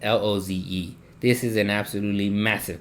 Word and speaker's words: Loze: The Col de la Luz. My bad. I meant to pronounce that. Loze.